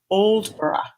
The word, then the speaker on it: Aldeburgh: is where I studied, which was Oldborough. Oldborough. Oh. And in English, we would say Aldeburgh. Yeah. Completely, it's so unattractive. But Oldborough, yeah. It's got this lull and loveliness.